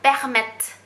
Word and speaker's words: permettent: 变成 nous permettons, vous permettez, il, elle permettent。